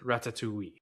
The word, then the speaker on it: Ratatouille: Today, we are talking about the 2007 comedy Pixar film Ratatouille, or I guess how the French would pronounce it, Ratatouille. Because I know as Americans, we kind of skip that second T. Ratatouille.